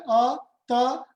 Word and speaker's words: अतः: इसका जो उच्चारण है वो ह की तरह होता है, ये भी आप ध्यान रखें। यदि हम जैसे अतः होता है अ त और पीछे दो विसर्ग के बिंदु, तो उसको जब हम उच्चारण करें तो वो उच्चारण में आता है अतः।